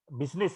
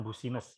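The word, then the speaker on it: business: karaoke Iya bisnis jangan-jangan terjangan terpaku dengan tulisannya banyak seperti itu ya pulsanya bahwa seperti itu bacanya cuman bisnis Hai bukan bussiness ya Ini dibaca Bagaimana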